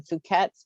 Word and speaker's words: Fouquet's: And it's funny that for French, they do pronounce the T. I've had people tell me I'm saying it wrong, but when Fouquet's was built back in the early 1900s, it was trendy to pronounce it like English. So it was called Fouquet's. Somebody may correct me, but